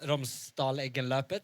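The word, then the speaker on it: Romsdalseggløpet: It's Romsdal Sig in Løpet. Is that right? Romsdal Eggenløpet. Thank you.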